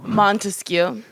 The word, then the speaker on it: Montesquieu: It's pronounced E-I-E-I-O? Montesquieu.